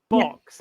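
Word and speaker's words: Bocs: Yeah, it's called box, but it's spelled B O Cs.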